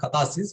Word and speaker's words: catharsis: is it's called as kathasis whereas the pronunciation is the spelling it goes like this c-a-t-h-a-r-s-i-s tatasis the sense that like